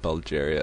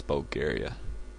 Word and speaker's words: Bulgaria: Bulgaria oh I'm sorry it's not Bulgaria it's Bulgaria was I pr mispronouncing that that's bad um